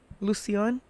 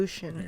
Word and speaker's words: Lucian: There Lucian. you go, the white way. Gotta use your Lucian every day. Yeah, I always thought it sounded like lotion.